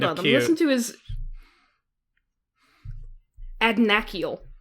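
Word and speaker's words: Adnachiel: Listen to his Adnakiel is how his VA pronounces it.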